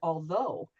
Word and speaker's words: although: A gh could be like an F in the word enough, but it could also be like nothing like in the word although.